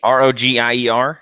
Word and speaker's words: Rogier: Says I'm going to mispronounce the name if I try. GC Rogier. ROGIER. Yeah, Rogier.